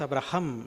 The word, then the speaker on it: Abraham: Abraham tiene h. Nosotros lo pronunciamos como un poco mudo, ¿no? Pero en realidad es Abraham. Es es como se tiene que pronunciar.